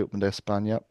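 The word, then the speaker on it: Open de España: Um make sure you pronounce it correctly. Open Espña.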